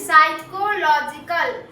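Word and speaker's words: psychological: साइकोलॉजिकल साइकोलॉजिकल साइकोलॉजिकल problems problems in the life lives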